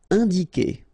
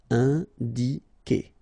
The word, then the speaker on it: indiquer: Indiquer, all right, keep in mind that when you get this Q and U after, and obviously a vowel, then U is not pronounced at all, okay, so it's K here, you don't pronounce the U.